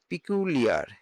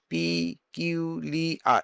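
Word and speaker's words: peculiar: সেরকম দেখা আছে পিকুলিয়ার, পিকিউলিয়ার, এভাবে উচ্চারণ করতে হবে, পিকিউলিয়ার না অদ্ভুত, আনইউজফুল, অদ্ভুত,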